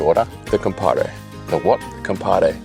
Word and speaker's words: compadre: Compadre. You gotta say it like compadre. Yes. With a D? No, Compare. Compadre. Compadre. You gotta roll the R's a little bit.